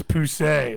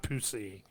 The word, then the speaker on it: Poussey: The accent is on the E, so it's Poussey, not Pussy.